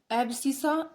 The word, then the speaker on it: abscissa: अच्छा, जो ये लिखे हुए होते हैं इसमें एक ये 2 एक -3, इस 2 को तो हम बोलते हैं एब्सिसा। इसकी स्पेलिंग होती है ABSCISSA, एब्सिसा।